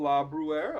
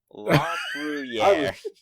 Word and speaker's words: LaBruyere: And we are visited today by our friend LaBruyere. I'm pronouncing that correctly? No, you are not. LaBruyere.